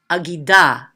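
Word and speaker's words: אגדה: So we would read that agida, agida. Notice how quick the ah part is.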